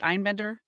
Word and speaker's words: Einbender: Hannah is it Einbender?